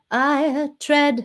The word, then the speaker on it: tread: consonne et c'est pas tread c'est pas tread tread ça c'est très français r red c'est comme si on prononcer vraiment les notes séparé enfin les consonnes les lettres séparément vous essayerez